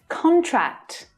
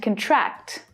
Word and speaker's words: contract: the pub probably but it's worth a shot contract and contract contract contract they signed the contract yesterday the